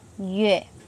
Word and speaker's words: 樂: Chữ này đọc là yue.